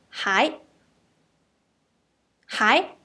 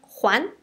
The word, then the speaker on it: 还: So for return, we say 还。Before, we have already learned this character with the pronunciation 还。还 means still, right?